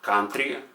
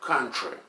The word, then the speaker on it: country: Another example would be the word country, even though it's spelled with no U, it's pronounced with the schwa, not country, but country.